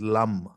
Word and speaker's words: Lam: root chakra or muladhara is LAM Lam you see the how they pronounce it's like L like that and then you can